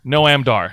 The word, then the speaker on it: Noam Dar: Not Noam, Noam? Noam Dar. That's how it's pronounced.